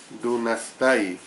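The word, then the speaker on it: δύνασθαι: La palabra que se traduce por puede en Filipenses 3:21 es una forma del término griego dunastai, al final la sílaba tai va con H intercalada, dunastai, del cual obtenemos la palabra dinamita, que es precisamente un poderoso explosivo.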